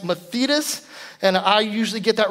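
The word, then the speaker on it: μαθητής: that so a disciple the greek text is pronounced mathetas and i usually get that wrong but it's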